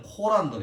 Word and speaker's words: 꾸란: 자, 이슬람의 경전은 옛날에는 코란을 했고, 지금은 그 이슬람 발음 그대로 꾸란이라 씁니다. 꾸란.